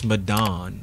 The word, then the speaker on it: Medan: and they wish and not how you pronounce it, man. It's MEDAN.